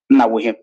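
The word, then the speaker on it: Onawuihe: Onawehe is spelled N-A-W-U-I-H-E. That is Onawehe.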